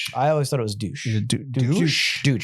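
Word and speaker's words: Deutch: Is it Zoe Dutch or Douch? I always thought it was douche. Douch. Douche. Douch. Oh my goodness. Zoe Deutsch.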